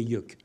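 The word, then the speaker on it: Yeuc'h: Ben non, non, non, vous m'avez dit à l'oreille que c'était Yuck.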